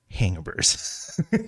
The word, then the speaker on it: Hangaburs: and that is you heard that right it's pronounced hangovers uh this is a um a pop-up based